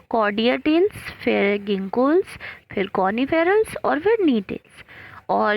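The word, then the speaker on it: Gnetales: कॉनिफेरल्स और कॉर्डियाटेल्स और नीटेल्स, जी साइलेंट है इसमें, तो इतने रखे गए।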